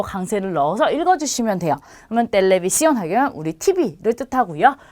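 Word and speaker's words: televisión: 그래서 하나는 텔레비시온 이렇게 되어 있고요. 하나는 텔레포노 이렇게 되어 있고요. 하나는 카페 이렇게 되어 있어요. 자, 이 친절하게 찍어줬기 때문에 이 부분에 그대로 강세를 넣어서 읽어주시면 돼요. 그러면 텔레비시온 하게 되면 우리 TV를 뜻하고요.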